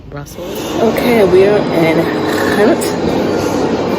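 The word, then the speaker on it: Gent: okay we are in Hunt it looks like the word g that it pronounced H so I'm here I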